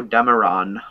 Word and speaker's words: Dameron: for Poe freaking Damron Poe Dameron rhymes with Cameron yep that was not